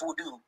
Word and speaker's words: wudu: No, ablution is wudu.